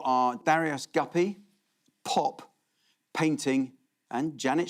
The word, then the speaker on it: Darius: Have I mispronounced his name? I call him Darius Guppy, is that what?